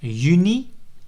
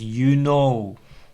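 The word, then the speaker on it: juni: confusion about that so people sometimes emphasize that they said uni by pronouncing it as you know and Julie by saying you lay because the Epsilon at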